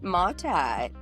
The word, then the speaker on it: Motta: Matt Motta. Did I pronounce that right?